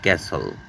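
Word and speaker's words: castle: মানে বাদ্যযন্ত্র তারপরে আসছি টি এর উচ্চারণ টি এবং এস যদি থাকে তাহলে টি অনিশ্রৃত থাকবে যেমন ক্যাসল মানে দুর্গ হুইসেল মানে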